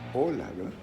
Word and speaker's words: hola: la verdad hola hola en español se pronuncia tiene tres sonidos o la l y la an hola y en inglés es how la primera cosa